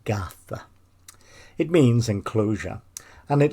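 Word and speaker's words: garðr: It incorporates the Old Norse word Gartha, G-A-R, then a letter called eth, which is pronounced as the, then finally an R, which means the whole word is pronounced Gartha.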